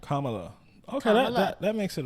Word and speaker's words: Kamala: It's like comma, like a comma, with the la on it. Kamala.